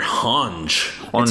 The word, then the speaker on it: Hanji: I think they Hanji. call her Hanj. It's Hanji, but okay. Damn, she kind of psycho.